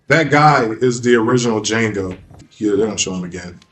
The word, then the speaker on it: Django: It was just a a western movie called Django. The D is silent.